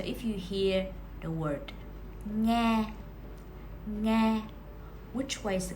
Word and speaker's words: nghe: Ngờ, e, nghe. Ngờ, e, nghe. Actually, the previous 2 consonant clusters that you just learned has the exact same pronunciation of ng.